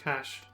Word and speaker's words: cache: the realm stirring anew i think it's pronounced cash for this purpose south of wilbrand upon